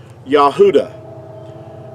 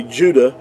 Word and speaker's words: Yahuda: you the this is like the pronunciation of the word yahuda now that's that's a way that you would pronounce it now in our English we say Judah which is totally AC inaccurate because there's no J